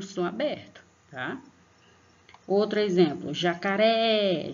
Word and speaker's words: jacaré: Outro exemplo, jacaré, jacaré. Então, percebam que no Ré, quando você pronuncia, você vai pôr mais força.